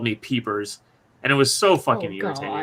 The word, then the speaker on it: Pieper: as what was it piper uh yeah it's well it's pronounced peeper it's p-i-e-p-e-r how the [ __